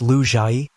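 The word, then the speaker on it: Leger: And that means it's time for my second investigation of the legendary hotel ledger, pronounced Lu Jai, in Mochalumni Hill.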